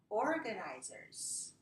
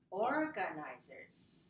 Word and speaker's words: organizers: sentence all right now I want you to listen to how I pronounce it tell me how many syllables you hear and then tell me where stressed syllable here okay listen organizers organizers organizer full organizers right